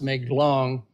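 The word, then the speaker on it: Mae Klong: but um it's somebody well anyway it's really pronounced make long so we're working on this drainage in Western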